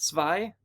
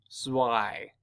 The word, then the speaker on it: Zwei: Not Zwei? So it's like Zwei, but pronounced wrong. Zwei.